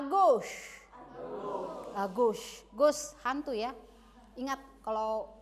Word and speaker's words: gauche: Ini à gauche. Gauche hantu ya. Ingat kalau à gauche. Pengucapannya seperti mengatakan gauche dalam bahasa Inggris hantu.